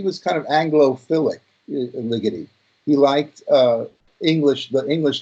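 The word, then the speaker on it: Ligeti: that that's very good it's Ligety like lickety-split it's not like spaghetti use that that is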